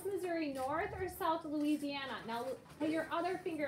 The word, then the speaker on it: Louisiana: Your name is in there, Louis, but we don't pronounce it that way. We say Louisiana. So I'm Yeah, not Louisiana.